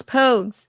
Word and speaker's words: Pogues: Um, Mom's Mystery M actually pronounced like the 80s Irish band. I'm going to butcher it again. Po Pogies or Poges. Oh, Rogues. Pogues.